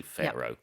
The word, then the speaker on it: pharaoh: becomes an F sound so we say pharaoh and even the the um the a sound at the at the start it's not far but it's pH yes Phar scientists have discovered sealed jaws